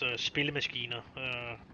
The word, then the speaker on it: spillemaskiner: That would be it would be pronounced spillemaskiner.